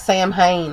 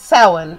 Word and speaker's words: Samhain: it and he kept referring to it as Samhain and I was like you know I don't speak Gaelic but I do know that he's mispronouncing that because it's soin in its it's spelled Samhain but it's pronounced